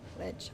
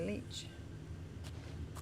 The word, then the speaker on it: lich: How did they pronounce it? Lake? Lich. Oh, there's a CH there. It makes me want to say leech.